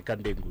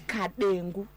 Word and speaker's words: Kadengu: Okay, Kandengu, let's go with that. Incorrect, actually, it's Kadengu. It's pronounced.